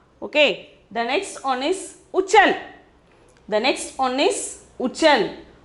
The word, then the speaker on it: उछल: The next one is uchal. The next one is uchal. Uchal, pronunciation is uchal.